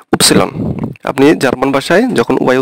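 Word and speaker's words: Ypsilon: আর ওয়াই, ওয়াই, ওয়াইকে আমরা ইংলিশে বলি ওয়াই, কিন্তু ওরা বলবে হচ্ছে উপসিলন। আপনি জার্মান ভাষায় যখন ওয়াই উচ্চারণ করবেন তখন এটাকে বলতে হবে উপসিলন, উপসিলন।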